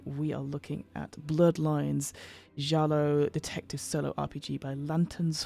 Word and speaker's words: giallo: it is inspired by uh jalo I believe that's how you pronouncing it is the the Italian for yellow uh horror Cinema so